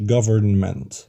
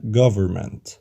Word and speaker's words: government: وخد بالك حرف ال N الأولاني ما نطقناهوش، ما قلناش government، قلنا government.